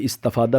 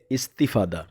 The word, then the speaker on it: استفادہ: تا کے نیچے زیر پڑھنی ہے۔ اس کو عام طور پہ استفادہ پڑھتے رہتے ہیں، لیکن یہ ٹھیک نہیں ہے۔ صحیح اس کا تلفظ کیا ہے؟ استفادہ۔ تو استفادہ جو لفظ